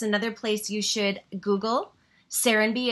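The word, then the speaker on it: Serenbe: Serenby, it's spelled S-E-R-E-N-B-E.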